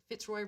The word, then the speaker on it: Fitzroy: Well, I think that Fitzroy rhymes with boy.